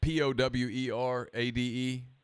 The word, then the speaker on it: Powerade: the other sport drink starts with the it's p-o-w-e-r-a-d-e how do you how do you pronounce that alright powerade powerade okay yeah yeah